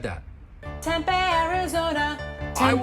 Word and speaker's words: Tempe: Tempe rhymes with Orny.